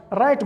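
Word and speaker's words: right: دویم مثال یې لکه رایټ ګوره بیا چې لیکلی دی په آی پسې جی اچ چې راغلی دی دا نه تلفظ کیږي، دا سایلنټ.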